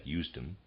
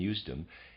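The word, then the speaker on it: Usedom: and that's readers aside that's spelled u-s-e-d-o-m i'm going to pronounce that houston end of readers aside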